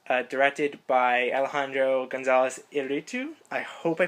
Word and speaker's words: Iñárritu: Iñárritu is probably a little better. I went through the IPA even looking it up because we were both a little unsure, but yeah, we got it. Iñárritu.